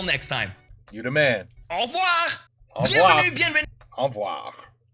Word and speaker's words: au revoir: Au revoir!